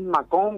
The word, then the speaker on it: Mâcon: Es Mâcon, porque tiene acento la A.